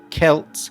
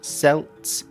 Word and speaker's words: Celts: The ancient Kelts, remember Kelts, not Celts. Celtic is a Scottish football team and Celtic is the word from Ireland. Celtic, the adjective.